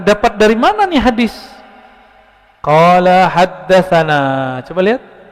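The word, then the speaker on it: قال: Qala haddatsana. Coba lihat. Ini enggak ada tulisan qalanya enggak ada kan? Tapi ahli hadis membacanya qala. Dibaca qala itu.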